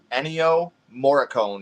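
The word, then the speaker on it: Ennio Morricone: boo yeah it's a anyo moricone is who did the score for the movie oh okay isn't it morone I think it's pronounced Mor sounds about right I think it's like Italian oh you gotta watch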